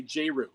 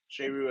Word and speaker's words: J*RYU: Because whenever we talk about you, we say J RYU, but your Yeah. last name is you. Do you pronounce Yeah. it J RYU?